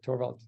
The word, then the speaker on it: Thorwald: And I know you go by TH, but your name is not the easiest pronounced, but I'll try it anyway. Thorwald. That's right, Thorwald.